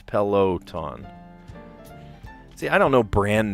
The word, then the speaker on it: Peloton: It showed up as tanned because I said pelaton, not peloton. Peloton.